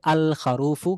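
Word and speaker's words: الخروف: তারপরে দেখেন খা দিয়ে আমরা পড়েছিলাম খারুফুন হচ্ছে দুম্বা বা বেড়া, তাহলে খারুফুন বেড়া, যদি এই খারুফুন শব্দের শুরুতে আমরা আলিফলাম নিয়ে আসি তাহলে হবে আল খারুফু, লামটা উচ্চারণে আসতেছে।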